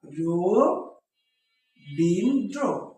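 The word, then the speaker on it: রবীন্দ্র: দেখেছি তাহলে এখানে ওকার হয়ে যাবে তাই না রো বিন্দ্র এখন দেখো যে এখানে কি হয়ে গেল অটা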